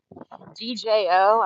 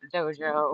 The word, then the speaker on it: DJO: and then the group DJO. I'm not sure how to say it. It's not Doge. It's not Dojo or that. It's DJ.